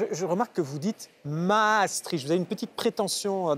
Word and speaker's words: Maastricht: Maastricht. D'accord, le détroit de la Meuse. Pour la prononciation à nos amis néerlandophones. D'accord. Et les anti-européens disent Maastricht, comme trick, coup de trick.